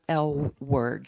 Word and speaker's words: Elward: my name is L word like the L word um it doesn't look like that in writing but that's how it's pronounced I'm a native of